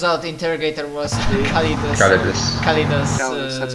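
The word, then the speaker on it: Callidus: Calidus, that's how you pronounce it.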